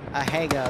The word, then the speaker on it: Asiago: like my cheese though a hey go that's how you say it okay then i'll die